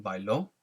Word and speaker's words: bailó: When you see the accent, that means you've got to accentuate that syllable. So if I say bailó, or if someone reads